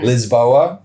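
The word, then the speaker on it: Lisboa: city we went to Liz boa this is how the locals say it um and I I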